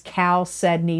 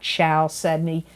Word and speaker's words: chalcedony: for Scorpio for the month of February is chalcedony. That is the way you pronounce it, even though it doesn't look like it. It is chalcedony, not chalcedony. And it is spelled, people have asked me to spell it, Chalcedony.